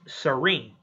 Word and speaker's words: Celine: Yes, it is spelled Celine, But in Japan, there is no differentiation from L's and R's in their language. So even though it's spelled Celine, it is pronounced Serene.